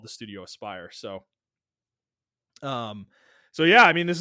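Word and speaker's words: Aspyr: Apparently it's Aspire, not Asper.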